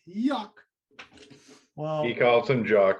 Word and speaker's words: Joc: For me, it's Jock. All right. It's pronounced Yuck.